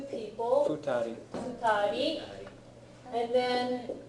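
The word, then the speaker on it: 二人: The pronunciation is interesting because if it's one person, you pronounce this hitori. If it's 2 people, Futari.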